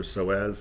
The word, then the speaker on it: psoas: and for those of you who don't know it's spelt funny uh pso8s uh iliopsoas or soaz it connects your upper and lower parts of